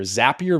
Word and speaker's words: Zapier: And Zapier, the easier way to remember how to say it, because a lot of people call it Zapier. Zapier makes you happier.